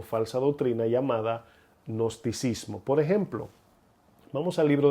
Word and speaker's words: gnosticismo: conoce como agnosticismo o gnosticismo, ¿verdad? Se escribe con una G al principio.